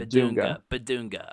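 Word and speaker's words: Bidunga: baduna yeah and the in the pronunciation guide here it is b b b Dune like the word Dune GA B beduna okay I I mean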